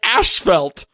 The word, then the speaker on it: asphalt: how we pronounce it in Canada they pronounce asphalt as ash felt what once again we're